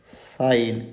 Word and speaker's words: sign: Sign, SIGN. Here G is silent.